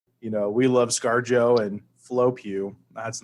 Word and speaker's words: Pugh: of ScarJo and Florence Pugh, or however you say her name. Is it Pug? Is it like Pug? No, it's just Pugh.